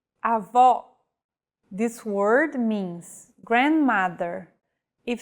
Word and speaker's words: avó: Vowels with the acute accent will be stressed and pronounced with open pronunciation. Avó.